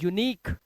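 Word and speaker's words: unique: इसी तरह से इसे पढ़ते हैं यूनिक। क्या पढ़ते हैं, यूनिक।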